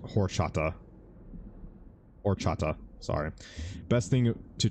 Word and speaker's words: horchata: It's pronounced horchata.